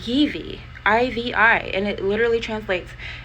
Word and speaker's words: Ivi: Ivi. They kept calling her Ivy, Ivan, Eva, that kind of stuff. Her name is Ivi, I-V-I, and it literally translates into strength and energy.